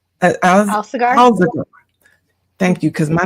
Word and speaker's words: Alsagar: Now, today our guest is Alsagar. How do you say it? I want to make sure I say it right. Alsagar.